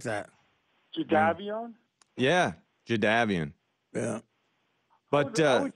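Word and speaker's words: Jadeveon: him I don't like he maintains now that it's jaavan I don't like when people change their names I don't like that jaavan yeah jaavan yeah but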